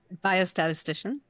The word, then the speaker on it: biostatistician: She's a biostatistician, I hope to pronounce that correctly, and clinical Biostatistician. development leader. Can you repeat that, please? Biostatistician.